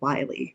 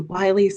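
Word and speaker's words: Willey: That disaster was the Wiley family disaster. Some people pronounce it the Willie family, but you might be familiar with this.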